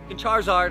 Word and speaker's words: Charizard: was dressing josie up like a charizard it's pronounced charizard i don't care what it is bro stop